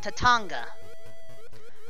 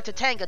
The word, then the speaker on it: Tatanga: coin except for one tatanga or to tango depending on how you pronounce it that's who we're going